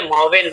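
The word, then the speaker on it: maven: को मेवेन बनाएंगे, मेवेन, थोड़ा सा प्रोनाउंसिएशन सभी लोग इसका इंग्लिश में किया कीजिए, मावेन मत बोलिए, मेवेन बोलिए। मेवेन, माँ में एक ही मात्रा और वे में एक ही मात्रा, मेवेन।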